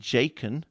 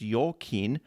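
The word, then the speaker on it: Jachin: were two major pillars that one was called jakeen uh it's actually pronounced your kin and it means he will establish so there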